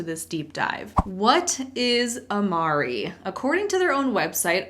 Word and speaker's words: Amare: start by loving yourself I'll admit that it wasn't until I started researching for this video that I realized it was pronounced Amari I have 100 called this a mare in several other videos